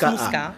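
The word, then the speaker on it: Muska: Musca, ça s'écrit comment ça? M-U-S-K-A. Mais on prononce Musca.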